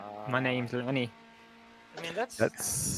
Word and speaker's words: Landis: was like, "My name's Lanny." I mean, that's how he. How about Laney? The actual name is Landis, but it's pronounced Really? Lanny.